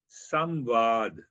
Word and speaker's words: samvad: The Sanskrit word is known as samvad. There are two syllables.